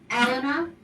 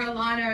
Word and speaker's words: Elena: i must tell you my name is pronounced elena okay so just so you know um but uh i know everybody calls me elena or alana or this but i